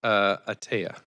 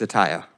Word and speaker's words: Ataya: Speaker number 2 is Atea. Please correct me if I've mispronounced your name. It's Ataya.